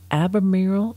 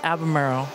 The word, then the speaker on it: Albemarle: I was wondering about the pronunciation for Albemarle. It sounds like there's not an R after that first E, but it's kind of a pronunciation of that. It sounds like there's an R.